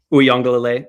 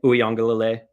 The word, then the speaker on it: Uiagalelei: Uiagalelei, Uiagalelei, Uiagalelei, Uiagalelei, Uiagalelei.